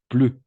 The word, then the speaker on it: plus: Ne plus plus. On va prononcer plus.